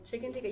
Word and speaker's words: chicken tikka: Chicken tikka.